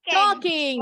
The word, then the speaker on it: talking: Talking. The L is silent.